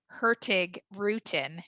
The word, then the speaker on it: Hurtigruten: actually what the name hertig rutin means so hertig is fast or Express Rootin means root um and the Norwegians so eloquently pronounce it so the G is technically silent so that's where the